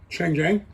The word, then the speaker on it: Chang Jiang: Chang Jiang.